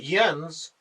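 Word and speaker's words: Jens: the J doesn't make the J sound it's more of an H sound um or well not even that CU that would make hens yeah I'm not sure but yens uh is how it's pronounced um and he's kind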